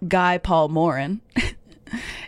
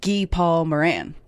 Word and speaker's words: Guy Paul Morin: Someone told me my boss actually told me uh it's not Guy Paul Morin, it's Gee Paul Moran is the man who was wrongfully convicted in the Christine Jessup case.